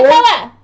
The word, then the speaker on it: Krakatoa: Say it right. I'm gonna guess on this. Krakatoa. Okay, now it's called Krakatoa. This is a with the exclamation point. Yes. Sour. Krakatoa. That's how you're supposed to say.